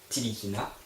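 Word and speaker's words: Ntilikina: Frank N. Tilikina prononcé Tilikina. Donc c'est un meneur qui vient de Strasbourg, qui a joué à Strasbourg cette saison.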